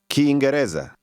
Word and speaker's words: Kiingereza: Did you notice how the speaker stressed the next to last part of that? Reza. This is a common pattern in Swahili.